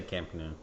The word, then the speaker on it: Camp Nou: You say it Camp Nou? Camp Nou? I don't know how to say it. They say Camp Nou, yeah.